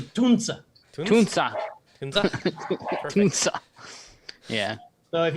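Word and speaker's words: Tunze: No, but the Tunzi is actually Tunza.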